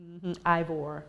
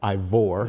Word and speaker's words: Ivor: this house your parents you are from aval you say it IAL Virginia oh okay thank you ivore ivore yeah that's how you spell it y'all i o r